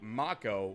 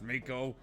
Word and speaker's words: Mako: a total of eight ma Co which should be pronounced Mako reactor is substances sequentially